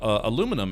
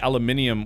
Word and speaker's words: aluminum: the American pronunciation of aluminum is the correct one, and theirs is technically wrong? Right, because saying aluminium would mean you would need to have an extra I in there, which there isn't.